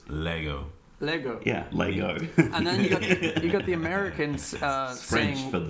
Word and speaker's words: Lego: Africa South Australia where Brody's from everyone says Lango and apparently it's because when it first went